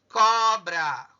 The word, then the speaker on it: cobra: Qual que é o mais forte? Qual a sílaba mais forte? O có. O có é mais forte.